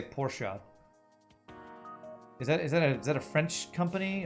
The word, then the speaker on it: Porsche: Or in the German accent, Porsche.